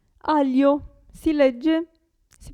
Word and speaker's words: aglio: abbiamo il gruppo gli in questo caso la g non si sente aglio si legge si pronuncia